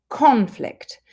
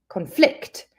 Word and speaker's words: conflict: If we put the stress on the first syllable, it's the noun, conflict. The conflict in Ukraine is terrible. If we put the stress on the second syllable, then it's the verb, conflict.